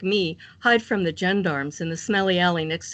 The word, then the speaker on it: gendarme: with ground-up cats no we don't say jean darm like they do in france we pronounce the G like the jug in fridge gorillas and gendarme we all call the